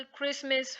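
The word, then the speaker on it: Christmas: following आम English शब्द examples देखते हैं कैसा क्रिसमस फैशन करते हैं डी लेटर यू इसे note pronounce when IT com after जी और फॉरएवर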